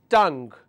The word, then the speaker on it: tongue: I have t, a, n, or rather ng. Tongue. T, a, ng. Tongue.